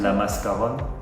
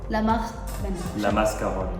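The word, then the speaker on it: La Mascaronne: How do you pronounce? Chateau? La Mascaron. La Mascaron.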